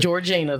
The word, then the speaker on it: Georgina: Georgina, that's right.